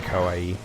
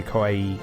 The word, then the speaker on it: kawaii: Yeah, kawaii, scary, kawaii is cute. But you have to make sure you pronounce the I properly.